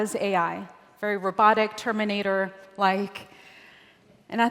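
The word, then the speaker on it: 愛: And the word for love in Japanese is ai, which is spelled AI.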